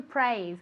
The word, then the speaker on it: praise: to praise okay to praise remember that the s in praise we say it like a zed okay praise okay like a bee one more time very